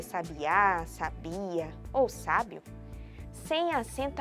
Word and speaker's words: sabiá: sílaba tônica da palavra sabia não tem acento gráfico portanto sua sílaba tônica é a penúltima me ou seja ela é uma palavra paroxítona Já a palavra sabe a quem possui cento tem como sílaba tônica sílaba a ou seja sabiá é uma palavra oxítona e sabe a segue